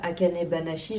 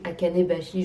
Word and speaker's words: Akane Banashi: Ouais, je regarde parce que en fait à chaque fois je dis pas Akane Banashi, je dis Akane bashi, j'oublie une syllabe.